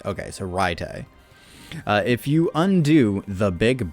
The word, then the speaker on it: Reitai: It's not Ray. It's Rai. Okay, so Reitai.